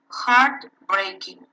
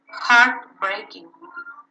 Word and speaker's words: heartbreaking: when pronouncing compound nouns the stress is in the first word or in the first syllable in that part is the stress for example in your book you have heart breaking heart breaking yeah so the stress